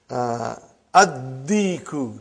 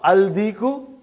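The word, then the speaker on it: ad-diku: Addiku, not aldiku.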